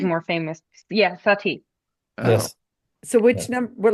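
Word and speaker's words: Satie: Those are his Seti. more famous. Yeah, Sati.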